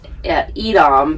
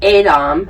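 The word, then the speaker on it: Edam: gouda style but it's from we would say edom but they pronounce it adam then we went from there to another town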